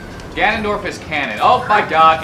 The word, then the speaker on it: Ganondorf: it got him kick I would like to say Fannin but that doesn't exactly work no it's Canon Ganondorf is Canon oh my